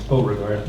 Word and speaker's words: Beauregard: It's Beauregard.